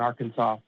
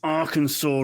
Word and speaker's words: Arkansas: But yeah, no, my dad, he was raised Roman Catholic here in Arkansas, and that's how you pronounce it.